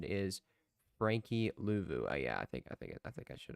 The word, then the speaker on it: Luvu: The pronunciation is Frankie Luvu.